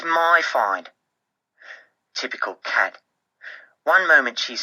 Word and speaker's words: Kat: It is a fact that her name sounds like the first syllable of words like catastrophe, cataclysm, catatonic. In other words, Kat is a walking disaster